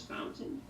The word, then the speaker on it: Fountain: In English you pronounce that as Fountain.